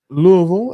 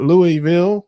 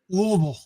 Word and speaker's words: Louisville: sure she is in Louisville as they say not Louisville like uh some people would say you gotta say it like you have something stuck in your throat like lble like that yes yeah